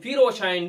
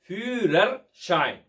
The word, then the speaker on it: Führerschein: நாம் அனைவரும் ஃபீரோஷைன் ஃபீரோஷைன் என்று சொல்லிக் கொண்டிருக்கின்றோம் அல்லவா, அதனுடைய சரியான உச்சரிப்பு ஃபியூரர் ஷைன்.